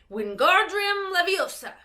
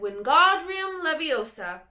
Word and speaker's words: Wingardium Leviosa: "Wingardium Leviosa," he shouted, waving his long arms like a windmill. "You're saying it wrong," Harry heard Hermione snap. "It's Wingardium Leviosa, not make the gar nice and long."